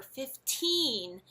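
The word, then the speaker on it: fifteen: sound very aspirated whereas when we say 40 or 30 the stress is on the first syllable and the T is actually softened a little bit and this way you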